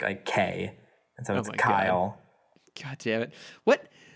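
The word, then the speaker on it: X Æ A-12: that you pronounce it Kyle because it I don't remember the middle part but it's the AE is pronounced like I mm-hmm and the 8-12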